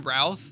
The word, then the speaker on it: Routh: at him like he's nothing like if Brandon Ruth later Brandon Ralph Ralph so I I'm sorry I it's one of those things where I see it phonetically I never read it correctly um Brandon Routh in his kingdom come appearance that you showed